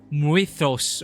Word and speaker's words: Mythos: guess Mordred and Arthur Mythos and for some reason people pronounce people here pronouncing itos or something I don't know if it's just their accent or if that's really another way of pronouncing Mythos the name by which